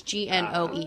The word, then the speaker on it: Gnoel: But Noel is spelled like a gnome, so it's Gnoel.